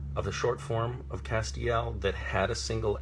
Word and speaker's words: Castiel: And I will say, no, it is not Castiel, it's Castiel. And that's very important, that on the page it is not immediately clear how the name Castiel is pronounced.